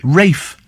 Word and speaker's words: Ralph: they're called Rafe I remember thinking all right Rafe this room name is Ralph but it's it's pronounced Rafe perhaps I should think of some